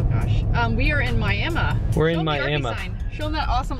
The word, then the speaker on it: Miami: to do oh gosh um we are in Miami sign show them that awesome old Arby sign